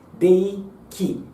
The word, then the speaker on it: 霊気: Reiki, que na verdade a pronúncia não é bem Rei, é Dei, tá? Dei Ki.